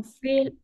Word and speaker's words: fils: On va prononcer mon fils. Oui, c'est un peu bizarre. Es un poco extraño. Oui. On va prononcer mon fils. Mi hijo. O sea, la L omitimos.